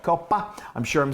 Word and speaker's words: Coppa: So this is Italian cured ham called Coppa. I'm sure I'm saying it wrong. Don't rake me over the coals. Coppa. But you have to say the pa.